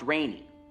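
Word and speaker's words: Rene: uh g a g n o n right pronounced rainy rainy yes okay I I actually called okay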